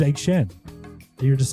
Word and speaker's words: Egg Shen: you kept calling him Egg Foo Young. You were adding syllables. You were just making it longer. Yeah. His name's Egg Shen.